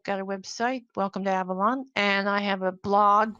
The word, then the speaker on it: Avalon: Avalon. It's Avalon. pronounced Avalon. It's actually Okay. Welsh.